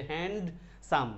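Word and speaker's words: handsome: এই যে হ্যান্ড সাম, ডির উচ্চারণ না এখানে, হ্যান্ডসাম, দুই সিলেবল দিয়ে যে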